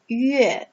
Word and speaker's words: 月: So here, moon is pronounced as 月 in Chinese.